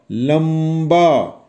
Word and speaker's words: लंबा: इसी तरह लंबा, तो इसमें आप बोल रहे हैं ला, आधा मा और ब, लंबा।